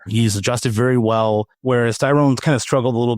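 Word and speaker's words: Thayron: And so we found out, by the way, it's a Tyrone, not it's not Tyrron, it's Tyrone.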